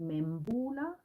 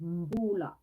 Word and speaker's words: Mbullah: A lot of people pronounce it Mbula. Mbula. But it's Mbula.